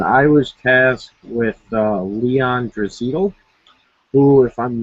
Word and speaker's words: Draisaitl: They pronounce his name really weird. I was watching some highlights. It was like Draisaitl or something. It could be Draisaitl, but I'm going to say Draisaitl here.